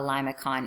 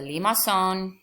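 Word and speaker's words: limaçon: this a lima song it's a french word it's got a funky symbol there um in texas we say llamacon uh it's not a limit con it's a limasson i'm gonna try to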